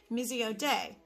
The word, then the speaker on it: Missio Dei: and i come across this term it's uh pronounced mesiode it's a term which means mission of god